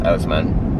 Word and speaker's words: Oseman: It's either Osman or Oseman, but I think it's Oseman.